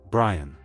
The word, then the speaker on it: Brian: Number six, Brian. Pronounced b r e e n.